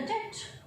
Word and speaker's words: debt: Will you pay the debt? Look at this word, D-E-B-T. Debt. This word D-E-B-T is pronounced as debt. Letter B is silent in this word.